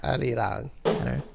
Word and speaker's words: Arirang: Someone say it correctly. Arirang. Slightly rolled both of the R's.